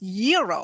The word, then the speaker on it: gyro: Gyros I order the gyro Supreme suddenly the lady behind me chimes in it's pronounced Euro then the fellow behind her says it's a gyro I turn my back